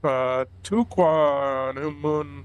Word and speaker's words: Tahquamenon: We are working our way up to I'm going to try and pronounce this correctly because I looked it up Tahquamenon Falls.